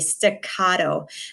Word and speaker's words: staccato: So repeat after me, staccato. There's the pronunciation there for you too.